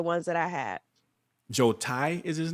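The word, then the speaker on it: Tsai: that I had Joe Tai is his name that's the next owner is it like like General style like General style chicken or something like that yeah like the tea is silent I saw I guess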